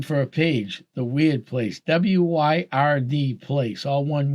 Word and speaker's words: wyrd: And weird is spelled WYRD, and it's referring to a rune from the Norse rune set.